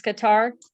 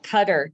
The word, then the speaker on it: Qatar: just want to know it's Qatar like guitar like if you were saying guitar just Qatar the tar I can't even type today pronunciation in English oh there cutter do you see they